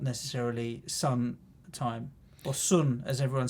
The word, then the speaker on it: Son: Son.